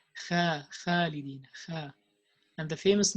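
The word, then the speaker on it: خالد: So the kha is heavy, and also the alif after kha is heavy.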